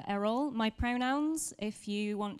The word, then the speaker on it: Eriol: little bit about me my name is Errol it's pronounced Errol my pronouns if you